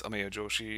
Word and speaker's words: Ameya Joshi: about myself so I get my name is Amaya Joshi and that's exactly how it's pronounced the way you see in the parentheses